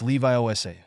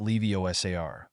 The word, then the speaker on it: Leviosa: you're saying it wrong it's Levi Osa not Lev osar hermion he said with